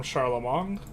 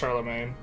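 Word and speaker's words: Charlemagne: to receive that from charlam Mong I know it's pronounced Charlamagne let me have my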